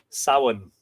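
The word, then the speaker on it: Samhain: Sin.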